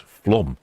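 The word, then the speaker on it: Flåm: So it's flom. Is it more like flom? Perhaps Hans can help me out there. Oh, and shipmate Finn says apparently it's pronounced flom.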